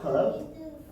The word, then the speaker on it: curve: Or you can just, if the E is disturbing you, you can just imagine it as a silent letter. You can imagine the E from curve as a what? As a what? Silent letter.